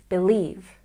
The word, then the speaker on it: believe: see from the apostrophe here we stress the second syllable believe believe number four it seems